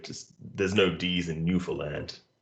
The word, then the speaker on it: Newfoundland: else newfoundland i'm like you don't pronounce the ds there's no d's in newfoundland katie we say it